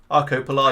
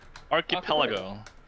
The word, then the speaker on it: Archipelago: going to archipo now Arco Pago how would you phrase it it's Arco Pago clearly how how would you just phrase pronoun it archipelago archipelago yes yeah pronounce Mike yeah